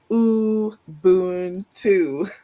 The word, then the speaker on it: Ubuntu: to say it and it's phonetically it is ooh Boon too so if you